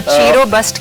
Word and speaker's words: Chirobust: चीरो बस्ट 2 अल्फाज का मुरक्कब है, ची जिसको हम एनर्जी कहते हैं, और रोबस्ट यानी कि फंक्शनल और बेहतरीन।